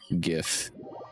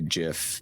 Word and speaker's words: gif: for jiff sound gif hard g for jiff i force myself to say gif when i say it out loud although in the back of my head i know jif is the correct way damn it also i